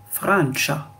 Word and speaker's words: Francia: la France, par exemple, la France en italien, c'est Francia. Tcha. C'est le tcha. Tcha. Le i n'existe pas. On va pas dire Francia.